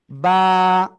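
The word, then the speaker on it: ب: clear হলাম তাই না বা কোন জায়গা থেকে উচ্চারিত হয় দুই ঠোঁটের ভিজা অংশ থেকে বা এক আলিফ টেনে উচ্চারণ করতে হবে সবাই জোরে বলেন তো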